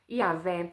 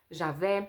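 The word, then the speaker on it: Yahweh: Eu me chamo Yahvé. Algumas pessoas falam Jahé e aí depende da pronúncia de cada um e aí o nome dele é eu sou e ele fala isso para Moisés.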